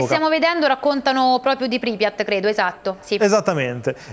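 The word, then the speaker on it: Pripyat: cittadina di pripiat pripiat correggimi Magari tu la pronuncia Perfetto pripiat pripiat Perfetto allora che era una città modernissima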